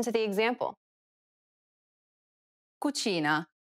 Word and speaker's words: cucina: This sound is identical to the ch in church. The only difference, though, is that it's stressed even more in Italian than it is in English. Listen to the example.